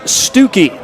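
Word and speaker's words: Stuckey: Andrew Stookie, spelled like Stucky, but pronounced Stookie out of Canyon Deloro High School out in the Tucson area.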